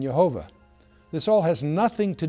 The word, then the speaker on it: Jehovah: But since tradition forbid the verbal pronunciation of the name, rabbis in the 16th century pronounced the consonants yad vad with the vowels of Adonai or Lord, resulting in Yhovah.